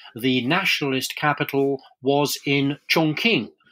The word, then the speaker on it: Chongqing: nationalist capital was in chongqing chongqing as it's pronounced correctly way up the yangtze